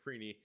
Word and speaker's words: Freeny: Uh, Eric Franny had a decent game as well, or Eric Freeny. I keep I've been mispronouncing that name, so I'm sorry about that.